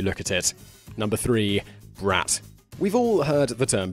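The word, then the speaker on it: брат: that means something different while the Russian word is pronounced brat it simply means brother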